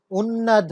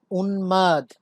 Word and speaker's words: উন্মাদ: উন্মাদ, উন্নাদ না, উন্মাদ। দন্তন্য এর সাথে যুক্ত হয়েছে, এজন্য আমরা এর উচ্চারণ পাচ্ছি উন্মাদ।